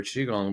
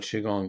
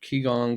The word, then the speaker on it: Qigong: either don't know what Qigong is they don't even know how to pronounce it a lot of times um I've heard kigong quigong and all kinds of versions of that and it's like this